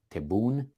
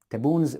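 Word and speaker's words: Tebboune: Algeria I think that's why we you would pronounce his name taboon taboons visit to Moscow to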